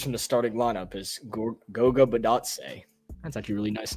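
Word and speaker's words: Goga Bitadze: Snicker, do you know how to pronounce this guy's name? Which guy? Is it Goga? Oh, Goga Badatse. Goga Badatse.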